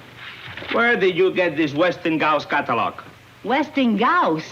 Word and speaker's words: Westinghouse: h well if you keep calling it westing gauss there'll be plenty of h i am telling you it is pronounced westinghouse i suppose the people who've been doing their